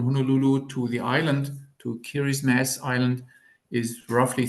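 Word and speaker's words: Kiribati: the island is called kiris mass kiris mass you you hear the similarity to Christmas so it was obviously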